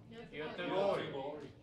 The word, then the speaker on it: Göteborg: Is that, how do you say it for real? Göteborg. Excuse me?